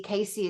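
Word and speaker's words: Cayce: field um Edgar Casey Casey is spelled with a c a y c he's dead now but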